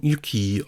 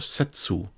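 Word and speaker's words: 雪: For example, here we have the character for snow with the pronunciation yuki or setsu.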